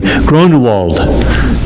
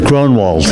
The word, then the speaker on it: Grunewald: It's a German name, Grunewald. Grunewald. To me it was Grunwald, but Grunewald.